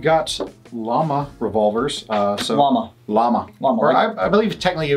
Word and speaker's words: Llama: llama revolvers uh so llama llama lot more i believe technically we pronounce yama yama okay because it's the double l you know that's fair